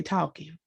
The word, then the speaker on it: talking: Because it's an L in the word. We don't never pronounce the L. We just say talking.